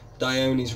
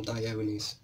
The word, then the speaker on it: Dione: That's why we call them Dione's. So people would call it Dione, but to be honest, if it's Aphrodite, then really it's going to be Dione, working on the pronunciations of the Greek gods.